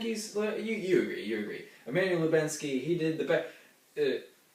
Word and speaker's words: Emmanuel Lubezki: Emmanuel Lubezki. Good job. Good job. Good job. Emmanuel Lubezki.